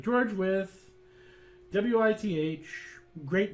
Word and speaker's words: Wythe: It's because the guy's name was spelled with a Y and so on and so forth, and they just thought that President senile racist grandpa wouldn't be able to figure that out, so we're just going to spell it out, W-I-T-H.